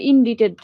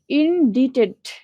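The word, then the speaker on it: indebted: কর অভ্যাস দিবে আচ্ছা এরপরে এটা একটু দেখি ইনডিটেড ইনডিটেড ডিবিটি অনেকে ডেপ উচ্চারণ করো ঋণ অর্থ কি ঋণ উচ্চারণ ডে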